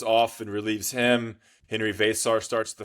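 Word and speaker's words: Veesaar: So you have Henry Vasar, and it's Vasar, Vaysar. Vasar is how I pronounce it.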